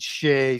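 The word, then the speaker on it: Sidhe: of the Shea painting, which is spelled S-I-D-H-E, pronounced Siege, Shea, Sedais, a whole bunch of different ways.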